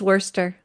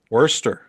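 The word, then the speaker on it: Worcester: it's w r c s t r it's Worster Worster it is see M some guy from Michigan can't pronounce these well I was gonna say because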